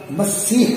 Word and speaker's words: مسیح: میں جو ہے نا یہ لفظ مسیح ہے، مسیح بمیم مفتوحۃ ثم سین مہملۃ مکسورۃ مشددۃ ثم یاء مثنۃ مکسورہ ثم ہاء مہملۃ، جیسے مسیح اور مسیح